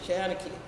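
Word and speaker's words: seanchaí: Shanachie. It's really Shan, not Sean. So she, well, Shanachie.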